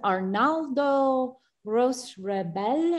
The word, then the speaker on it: Arnaldo Roche Rabell: This is 1993, and I think you pronounce it Arnaldo Roche Rabell.